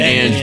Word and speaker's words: Ang: I am here with, I forgot to ask you guys how to pronounce it, Ant and Band? Ant and Ange Band.